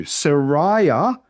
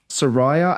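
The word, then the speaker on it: Seraiah: Sariah. So the ai makes the same sound as it would in English. Sariah and Azeriah.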